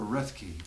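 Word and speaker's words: Roethke: Dirty Dinky, that's a poem by a man named Theodore Rethke. I think that's how you pronounce it, R-O-E-T-H-K-E. I've never heard that pronounced. Just seen it in print.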